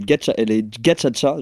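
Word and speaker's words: gacaca: Du coup, là, quelqu'un qui précise que ça se prononce. C'était les gachacha, genre c'est comme ça, mais ça écrit gakakas en soi.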